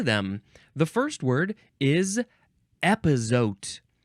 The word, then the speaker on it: epazote: the first word is epote e p a o t epote oh good thing it's spelled just like it sounds noun from 1946 epote